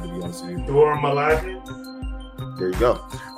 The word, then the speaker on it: Dora Milaje: Ross and members of the Duraj Malloy. I don't know how to pronounce that word, to be honest with you. Dora Milaje?